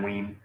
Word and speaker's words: Wein: and Len Wein. Wein, okay. I wasn't sure how to pronounce that.